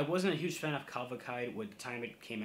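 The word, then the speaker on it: Cavalcade: black midi I wasn't a huge fan of kavakai with the time it came out last year so that's how you pronounce the name of the record uh but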